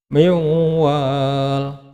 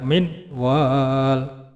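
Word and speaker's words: من وال: Miwal, tidak boleh dibaca minwal, ya. Harus dibaca miwal karena ini adalah hukum bacaan idgham bi gunnah, ya.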